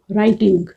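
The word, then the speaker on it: writing: या फिर ये है हमारा वर्ड राइटिंग। राइटिंग में टी मिडल में आ रहा है, टी से पहले आर का स्ट्रोक है, डब्ल्यू साइलेंट है, तो आर को हमने हाफ करना है, राइट।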